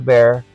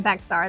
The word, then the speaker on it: Bexar: in front of a bear and it became Bear County please don't call it Bexar that's the first and foremost sign that you are not from here so bear county has